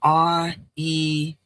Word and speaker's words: REIN: It's the REIN. It's like rainbow, but instead of RAN, it's REN. All right. It's rainbow instead of RAIN, it's REIN.